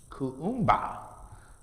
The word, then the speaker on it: Kuumba: Then the next is the 6th day, which is pronounced Kuumba, to do always as much as we can